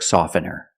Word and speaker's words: soften: pure T intensive and when you see T between consonants it's silent don't pronounce a t if you link the sounds do not pronounce a t examples exactly and Christmas